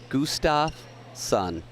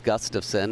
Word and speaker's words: Gustafson: the names were red it got to emmett's name emmett carl gustav sun i i just smirk because we know it's gustafson and i just smirk